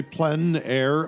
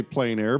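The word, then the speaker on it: plein air: means outdoors in French the French say PL air others say plain air but no matter how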